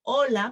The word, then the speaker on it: hola: For example, when you say hola, hola, we don't say hola, we say hola because the H is silent, no, it's mute.